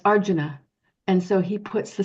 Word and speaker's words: Arjuna: have those sounds and so we might say Arjuna but it's Arjuna and so he puts the syllable on the correct um syllable and you